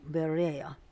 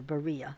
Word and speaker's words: Berea: But as soon as night fell, the brothers sent Shaul and Selah off to Berea, or Berea, however you want to pronounce it.